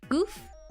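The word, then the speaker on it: Gouf: Goof? Pronounced goof.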